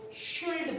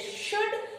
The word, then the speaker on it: should: शुड को अक्सर लोग शुल्ड पढ़ते हैं, शुड को अक्सर शुल्ड पढ़ते हैं, व्हाइल इट इज शुड। इसमें एल साइलेंट रहता है।